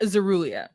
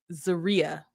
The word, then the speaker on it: Zeria: Troy and Zeruia. Wait, I'm saying her name wrong. Zeria.